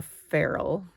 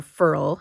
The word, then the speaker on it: ferrule: Two, it's also going to loosen the hairs in this thing is called the ferrule, or furl, I think actually is how you pronounce it.